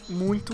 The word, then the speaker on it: muito: palavra que a gente muito usa a palavra muito essa combinação tem som de uim e palavras como muito